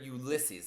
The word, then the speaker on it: Ulysses: I actually usually hear Ulysses, like emphasis on the second syllable is what I usually hear.